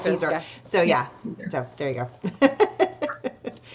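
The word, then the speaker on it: Siser: caer but you pronounce Cesar so yeah so there you go not as in like Caesar salad yeah there is a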